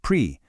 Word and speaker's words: pris: Prendre becomes pris, pronounced pris, and voir becomes vous, pronounced vous.